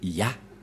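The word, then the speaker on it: יה: La prononciation de ce terme est ceci, c'est Yah.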